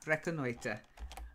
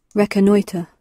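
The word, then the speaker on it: reconnoitre: really no recognizer yes yeah reckon later okay if you like reckon eater reckon eater okay that one recognizer okay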